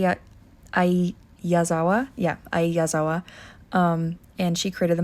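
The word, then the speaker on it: Ai Yazawa: sorry I need to see her how to pronounce her name I uh I yazawa yeah a yazawa um and she created the manga and that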